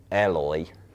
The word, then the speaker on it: Eloy: a drum battle between Eloy, recently learned that's how you pronounce his name, and El Estepario man.